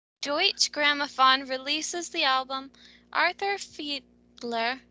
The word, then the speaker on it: Deutsche Grammophon: It's Dutch, I think. German, I think. It's Deutsch Grammophon is how I Ah, pronounce it. Deutsche Grammophon releases the album Arthur Fiedler and the Boston Pops Orchestra Salute to Disney.